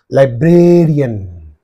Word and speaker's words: librarian: So what is the preceding syllable means? Bra. Librarian. Librarian.